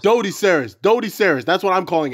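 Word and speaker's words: Doedicurus: Try Dodiceras, you asshole. I said Dodiceras. Dodiceras. That's what I'm calling it. Dodiceras. Acorn's mother. Dodiceras. It's not Deo. That's an O, you asshole. Do.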